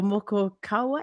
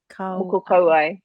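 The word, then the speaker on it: moko kauae: about is um, your moko kawai. Did I say it right? Moko kawai? Moko kauai. Yeah. Kauai.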